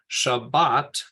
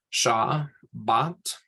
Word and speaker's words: Shabbat: the the final one so Shabbat that bot doesn't need an accent mark over it because it follows the rule and then that that first syllable sha is an open one where it's a a Sheen and either a Pata or kamats right Shah bot yeah hey could you